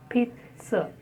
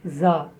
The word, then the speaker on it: pizza: Pizza, pizza. It is not za, pizza, it's pizza.